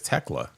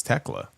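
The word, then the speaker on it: Thekla: Is it Tekla or Tekla? They said it on TV as Tekla. Tekla. So I assume it's Tekla.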